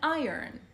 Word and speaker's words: iron: We also have the iron اللي هي المكواية. Pay attention to the pronunciation. Iron مش iron.